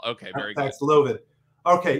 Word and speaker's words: Paxlovid: But let's go over a little primer on Paxlovid, which I thought was Paxlovid until we did a piece and the company said it's Paxlovid. Okay, Paxlovid. Okay. Anyway, emphasis whatever. On the second syllable. Okay, very Paxlovid.